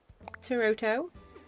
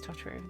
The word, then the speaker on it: Totoro: theme I have but I have tooto no yeah no Totoro I literally I say it wrong every time it is Totoro there you go and